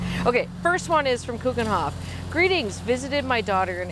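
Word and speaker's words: Keukenhof: first one is from coogenhof greetings visited my daughter in Amsterdam and was amazed with the variety of tulips what an incredible place she says pronounced Coke in Hoff I've ordered so many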